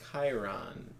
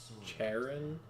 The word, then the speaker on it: Chiron: Where the guy's name is Chiron, but because the person who wrote it is retarded, they thought it was supposed to be pronounced Charon. So they were like, oh, he'll be Sharon.